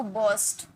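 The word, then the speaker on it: burst: फटना को बोला जाता है टू बस्ट। टू बस्ट। Art silent होता है। ठीक है? टू बस्ट। बस्ट नहीं बोलेंगे।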